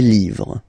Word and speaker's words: livres: Les, and then same rule, you just write livre, and then you put S at the end, but then you don't pronounce it. Les livres, le livre, les livres.